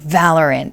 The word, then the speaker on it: Valorant: But what is Valorant, right? For those of you who aren't really familiar and this game has been getting more popular, first of all, it's pronounced Valorant, not Valorant.